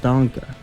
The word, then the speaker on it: Dunkel: Yeah, that's how it's pronounced, Dunkel.